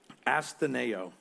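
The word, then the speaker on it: ἀσθενέω: James uses for sick is a word that's pronounced astaneo and it means to be weak feeble without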